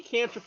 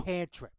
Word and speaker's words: cantrip: spell for you on a failure spell any canri you do not know cantrip cantrip I didn't say canri oh I was